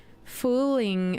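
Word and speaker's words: Fuling: It translates to ugly nasty one or more like a rascal pronounced fooling."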